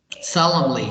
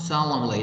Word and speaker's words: solemnly: something, obligation, ceremonially, resource, Solemnly. It's not solemnly. Don't pronounce the N.